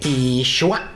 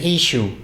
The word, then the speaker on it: Yeshua: We say there's several ways to say it, either complete or shortened. We say Yeshua. Yeshua. That's because of the I at the end. Or some of them shorten, just say Ishu.